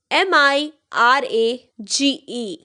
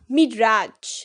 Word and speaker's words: Mirage: How you will pronounce it as? Rafale, Rafale. Got it? Let's move to the next. MIRAGE.